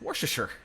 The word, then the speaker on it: Worcestershire: then there's you know it looks like worcestershire but it's worcestershire somebody said it they said you you pronounce this word wash your sister uh no i didn't